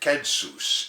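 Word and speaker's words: κῆνσος: Latin word that we pronounce census today they pronounce it kensus in those days and they call it the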